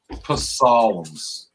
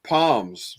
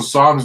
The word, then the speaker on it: Psalms: Psalms but how do you know this is pronounced Psalms and not PS right there's well I I call it Palms because that's what Joe Biden President Joe Biden